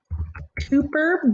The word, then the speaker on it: Kuiper: Some asteroids are located in the Kuiper belt, it can be pronounced either way, which extends beyond the orbit of Neptune.